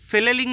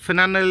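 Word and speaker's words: flannel: মাল এই যে শীতের ফেলেলিং শার্ট বলি এটা বিভিন্ন এলাকায় বিভিন্ন রকমের উচ্চারণ টুচ্চারণ করে অনেকে ফেনানেল এরকম বলে বাট এটার নাম হচ্ছে ফ্লেলিং ঠিক আছে এইটা হচ্ছে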